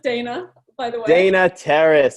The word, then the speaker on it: Dana: It's pronounced Dana, by the way.